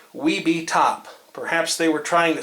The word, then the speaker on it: Webetop: I was a little unsure about the pronunciation that they intended for this, but I believe the correct way to say it is Webetop.